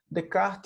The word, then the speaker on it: Descartes: mas ele tá escrito de Castro porque a pronúncia francesa né isso que a gente a gente chama de cada bom então de kart está quem trouxe a dúvida para o ambiente